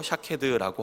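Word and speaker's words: שָׁקֵד: 것이고 영어로는 워드플레이라고 합니다 살구나무는 히브리어로 샤캐드라고 하고 지켜라는 단어는 쇼캐드라고 합니다 12절 말씀에 이것을 대입해보면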